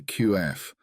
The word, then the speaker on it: qaf: articulation point of the qaf among their early language speakers, and that the articulation point of the qaf is broad, with its beginning from the upper palate and its end near the kaf.